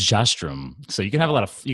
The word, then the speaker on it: Jastram: It's Jastram. So you can have you can have some flair in there, different pronunciations.